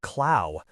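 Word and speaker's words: Klau: Well, then the name of the German Jesuit I have been speaking of is Kristoff Clow, pronounced Clow. Don't you see the pun? Clue.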